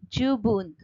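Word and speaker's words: じゅうぶん: जैसे जुप्पुन मतलब 10 मिनट्स और जुबुन मतलब इनफ।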